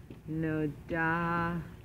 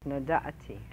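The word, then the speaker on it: נודעתי: In the perfect tense, nodati. So it's a little bit funny because it has a shva under the ayin. It's a little difficult to pronounce. Nodati. Nodati. Just makes a little in your throat.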